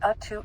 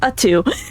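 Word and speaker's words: UTTU: And we finally know how to pronounce U2. I just thought it was U-T-T-U. I guess it's U2.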